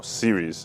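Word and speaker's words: Syrys: Stand Out is basically our core values now Series this is pronounced basically s y r y s uh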